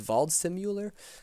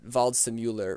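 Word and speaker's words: Waldseemüller: German cartographer named Martin I believe it's pronounced VA simular uh he he in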